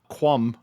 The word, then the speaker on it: cwm: How do you pronounce CWM space PWCA? quum, as I would say it, as a filthy carpetbagger, that has special importance to me as a Scrabble fan, Yes.